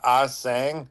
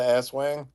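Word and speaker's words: aswang: So you got it's the asang, not the asswang.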